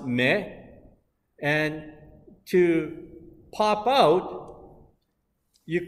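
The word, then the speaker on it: 目: Now in Japanese, the eyes or eye is pronounced me, and to pop out, you can say deta, mega deta, okay?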